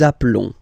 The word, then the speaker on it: appelons: Nous appelons, nous appelons. Okay, final S doesn't exist.